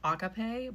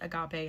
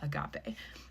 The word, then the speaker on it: agape: I've always heard it agape, and like the little emphasis thing was on the ga part, not the a, so I'm going to say agape, which is affection, goodwill, love, benevolence, brotherly love.